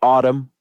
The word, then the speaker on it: Atum: It's called Autumn. It's spelled ATUM.